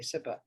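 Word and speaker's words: CIPA: SIPA, okay, SIPA.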